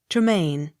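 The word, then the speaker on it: Tremayne: a y n e tremaine accent on last syllable t-y-r-w-h-i-t-t tear it g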